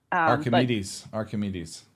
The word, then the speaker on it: Archimedes: I don't know how you pronounce it. It's Archimedes. I don't know. Archimedes.